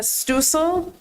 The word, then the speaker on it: Stucil: Uh by Stucil uh oh rhymes with diesel sties.